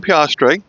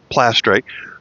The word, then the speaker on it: piastre: This is going to be the first coin we looked at, the 1 piastre, not plastre, the 1 piastre from 1946 to 1947.